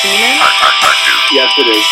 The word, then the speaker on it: Beaman: pronounced Beaman? Yes, it is. Beaman.